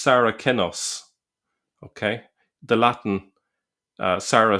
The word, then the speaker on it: Saracen: the the c be the c was pronounced with a k sound in earlier centuries. So that's worth pointing out. So the word saraken first appears in Greco